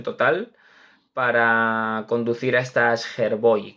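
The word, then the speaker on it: Skjervøy: para conducir a estas Herboy, creo que se dice algo así, más o menos, la pronunciación, Charvei, Charvei.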